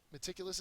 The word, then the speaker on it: meticulous: along meticulous is next meticulous is an adjective the first sorry excuse me second syllable is accented it means particular about